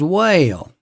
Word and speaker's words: well: It's just well. Well, that's it. But in the south, that word becomes whale. Whale. I E uh whale. One syllable. Three distinct vowel movements.